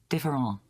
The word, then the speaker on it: différent: ENT and ANT is pronounced ang. Like different would be Différent.